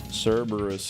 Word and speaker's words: Cerberus: Cerberus is the English pronunciation of what's really a Latin name if you want to.